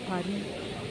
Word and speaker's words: Paris: நம்ம ஊரு பீச் மாதிரி இது வந்து இது வந்து பரி பிளாஸ்ன்னு சொல்லுவாங்க பரி பாரிஸ் வந்து பாரிஸ் என்றத பிரஞ்ச்ல சொல்றது வந்து பரி ஏன்னா கடைசில இருக்க எஸ் வந்து எப்போதுமே உச்சரிக்க மாட்டாங்க சின்ன சோ இந்த ரோட்ல